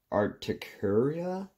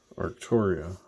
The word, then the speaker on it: Arcturia: Articaria? Okay. You got most of that pronounced right. I'm learning big words too, by the way, so. Yeah. Arcturia.